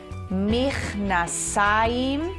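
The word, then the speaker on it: מכנסיים: And we would pronounce this mich nasayim.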